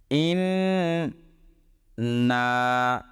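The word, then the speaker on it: إِنَّا: নুন এবং মিম এই দিয়ে আরবি দুইটা অক্ষর রয়েছে, এগুলোর উপর তাসদিদ থাকলে এক আলিফ গুণনা করে পড়তে হয় এবং দুইবার করে কথা বলতে হয় এগুলোকে। ইন না, দুইবার নুনকে উচ্চারণ করলাম।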